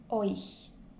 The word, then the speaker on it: euch: Un autre conseil pour retenir, ou pour prononcer plutôt ce mot-là, qui est un peu difficile, imaginez-vous un O, I, tréma, euch.